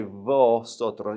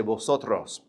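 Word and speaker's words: vosotros: Now, something I want to tell you about the letter V in Spanish. It almost sounds like a B. You don't say votros. You say like a light B. Say botto.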